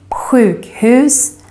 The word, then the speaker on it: sjukhus: And then finally, you can hear the grave accent, the accent that goes up, down, up, in words with two syllables with typical Swedish ending, such as pojke, rolig, and also in compound words, two words put together, such as lastbil, sjukhus, brandman. And also in this group,